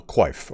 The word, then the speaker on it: coif: rusty imperial open male coif or a quaff as i believe it was actually pronounced well why can't that